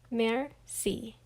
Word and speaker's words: merci: he says pardon me i teach everyone how to say thank you in french it's merci you say it like this mer see that evening i tell